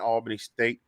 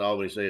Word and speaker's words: Albany: It's not Albany State. It's Albany State.